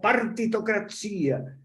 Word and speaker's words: partitocracia: La democracia no es democracia, se dice con acento en la I, en italiano, ¿no? Sino partitocracia.